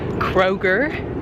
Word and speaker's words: Kroger: Um, right now I'm having a little exploration and I'm also trying to go to Kroger. I mispronounced it in my in my my other video.